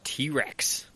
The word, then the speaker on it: TRX: power the the ram t-rex yes which is an awful name honestly because it spelled TRX yeah yeah but it is pronounced t-rex yeah according to WHO